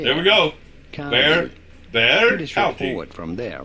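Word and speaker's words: Bexar: Bear. There we go. Bear.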